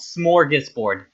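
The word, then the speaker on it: smorgasbord: Smoris board.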